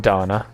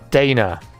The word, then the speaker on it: Dana: that game looks nice it's pronounced Dana sorry I've probably been annoying you for weeks by saying Donna wasn't Donna international well Eurovision winner or something Dana like Daytona right I've got to